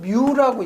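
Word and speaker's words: μ: 요거는 뮤라고 있죠. 뮤. 점도. 그다음에 요거는 뭐라고 읽어요?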